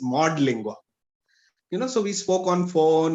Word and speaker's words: Modlingua: It has got nothing to do with Modi, and it is Modlingua.